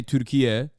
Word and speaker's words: Türkiye: the Turkish state broadcaster trying to say Türkiye, which is like the new naming convention for Turkey, which is like the actual is how you say Turkish Turkey in Turkish.